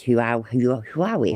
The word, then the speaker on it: Huawei: got a huey phone I know it's not how you say it's who are we whoever you say it right who and who are we who are we it says it's Huawei anyway UF that's what I'm